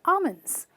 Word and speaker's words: almonds: dry fruit but again just like the salmon you do not pronounce the l and you simply say almonds i carry some almonds